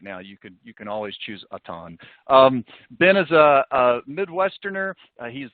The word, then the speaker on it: Auton: Is it Auton or Auton? Do you prefer the French pronunciation? No, just Auton. It's been Anglicized.